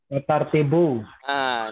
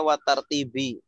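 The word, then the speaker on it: والترتيب: Watartibu. Ini juga banyak yang salah. Bacanya watartibi. Karena mungkin ngiranya ke Ka'baini ini.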